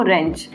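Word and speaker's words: wrench: जाता है इसको रेंज क्या पढ़े हम इसको रेंज डब्लू इसमें साइलेंट हो जाएगा और हम यहां से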